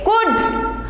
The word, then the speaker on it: could: COULD कुड, SHOULD शुड, WALK walk, TALK talk.